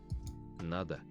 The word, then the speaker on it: Надо: Надо. Надо. Надо. Nada. So first one.